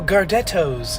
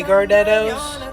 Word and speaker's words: Gardettos: she was like, "Ooh, Gardettos." and she like pronounces the T like with an emphasis on the T. And I thought that was wild because I've never heard somebody pronounce it that way.